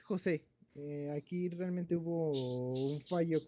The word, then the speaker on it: José: Jos Israel Rosas. Presente, profesora. Ok. Jos se pronuncia, ¿no? O Jos. Es José.